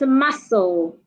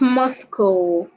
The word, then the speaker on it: muscle: Another word we have is muscle, not Moscow. We also have sandwich, not sandwich. The D is silent.